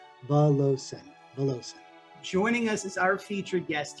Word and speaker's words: Valovcin: uh but yes so the second v is silence so it's pronounced vallossa us is our featured